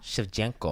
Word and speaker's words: Shevchenko: how do you say her last name Shevchenko Shevchenko I just know where the bullet good bullet